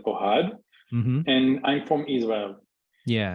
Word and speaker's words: Ohad: Ohad Ohad in in America in the USA say that my name is Chad because it's easier to pronounce but my name is Ohad and I'm from Israel